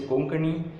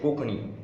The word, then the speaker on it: Konkani: I'll say I know KONKANI, but in KONKANI language I say `Maka Kokani Yeta I don`t say KONKANI I say Kokani and `N` is Silent in it fine okay, so our first question What is your name?